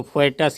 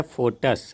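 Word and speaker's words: foetus: इसको फोएटस या फोइटस या समथिंग कुछ नहीं पढ़ेंगे, बल्कि ये है फोटस, है ना।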